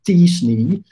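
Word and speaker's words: t-SNE: data science technique that i'm told is pronounced as disney which it was invented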